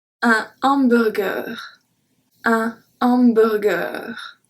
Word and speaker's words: hamburger: Numéro 4, un hamburger. Un hamburger. So we don't say hamburger like we should. We say hamburger. Burger. We say exactly like the English way, just we do not pronounce the H.